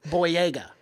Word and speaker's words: Boyega: Boyega, right? Yeah, John Boyega.